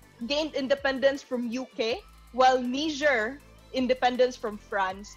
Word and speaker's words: Niger: Nigeria gained independence from UK, while Niger, independence from France. That's why the pronunciation is Niger. It's French. French. It's a French colony.